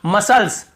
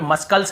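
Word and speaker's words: muscles: यहां पर भी देखिए मसल्स, मसल्स, मसल्स, यहाँ पे मस्कल्स नहीं पढ़ रहे, यहाँ पर भी सी साइलेंट है।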